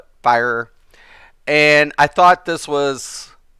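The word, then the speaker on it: Firor: I pronounce it Fear, but Fire.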